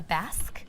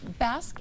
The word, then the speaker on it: Basque: with a drop waist or also called a Basque W. Correct. Am I pronouncing that correctly? You are. It is Basque.